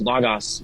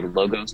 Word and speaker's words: Logos: We use LOW-GOSE with people who've learned Greek in America because they've most likely learned the Erasmus pronunciation LOW-GOSE. But people who haven't taken Greek will think it's LAGAS, so we say LOGOS to make it clear it's two O's.